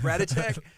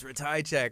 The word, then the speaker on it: Ratajczak: People are like Radicek, but he's like, it's Ratajczak, and I'm like, yes, Drew Ratajczak.